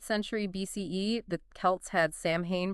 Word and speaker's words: Samhain: 5th century BCE, the Celts had Samhain pronounced S-O-W-N, apparently.